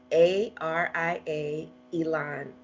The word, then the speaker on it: Aria Elan: And my name is spelled Aria, Aria, Elan, Elan.